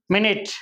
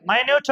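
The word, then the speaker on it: minute: meaning தப்பாயிடும் சரிங்களா okay அடுத்தது பாருங்க எப்படி வாசிப்பீங்க மினிட் அப்படி மட்டும் தான் வாசிப்பீங்களா ரெண்டுக்கும் ஸ்பெல்லிங் என்னது சேம் ஸ்பெல்லிங் அப்ப நீங்க உச்சரிக்கிறது கூட சரிங்களா எந்த இடத்துல எப்படி உச்சரிக்கிறீங்கன்றது தானே மினிட் அப்படின்னா என்ன அர்த்தம் நிமிடம் மைனயூட் அப்படின்னா நுணுக்கமான நுட்பமான அப்படின்னு பொருள் இல்லையா அப்ப ஸ்பெல்லிங்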